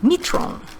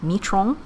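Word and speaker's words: मित्रों: I mean, a lot of people said you don't pronounce the N. And I get that, but it was still difficult for me to actually pronounce it until I realized it's the same concept as saying the last name of the president of France, Emmanuel Macron.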